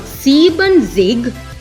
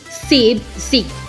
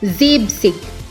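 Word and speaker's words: siebzig: Similar to 17, which is Zibsen, En in Sieben goes away. So it's not Sieben Zig, it's Zibzig. Once again, Zibzig.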